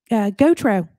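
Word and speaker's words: Gutraux: 30 six with Christine goor uh this podcast you know Christine goo it's spelled a little different it's pronounced Goo uh but it's uh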